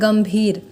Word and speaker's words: गंभीर: अब देखिए गंभीर, ग, देखिए ग के बाद बिंदु कहाँ है, भ से पहले है, तो भर किस वर्ण के अंतर्गत आता है, प फ ब भ आया। अब इसका सबसे अंतिम अक्षर क्या है, म। तो यहाँ हम लोग इसीलिए इसको पढ़ रहे हैं गंभीर।